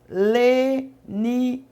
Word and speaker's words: Lenize: Então, às vezes você perde a um canal e acaba caindo em outro canal, mas sempre quando você for pronunciar o meu nome, você fala: Missionária Leniz com Z, viu?